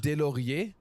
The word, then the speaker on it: Delaurier: Wait, is your last name, is it Delaurier?